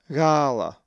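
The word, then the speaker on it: γάλα: The accent is over the first alpha, so it is pronounced gala. Now let's pronounce this Greek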